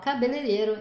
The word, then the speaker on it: cabeleireiro: On n'entend pas les i, donc on va les enlever, hop, et du coup on va dire syllabe par syllabe.